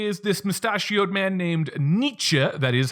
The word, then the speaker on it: Nietzsche: look at today is this mustachioed man named Nietzsche that is how you pronounce his name one of the goals on